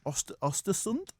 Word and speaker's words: Östersund: Right now, he was managing Östersund, which is the correct way to pronounce it.